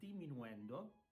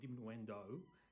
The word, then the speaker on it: diminuendo: And then you have the word diminuendo. It's not diminuendo, it's diminuendo, diminuendo, or decrescendo is also written decrescendo.